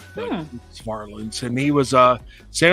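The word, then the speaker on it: Varelans: it's v r e l NS they always pronounced it wrong but farlands and he was a San Jose State offensive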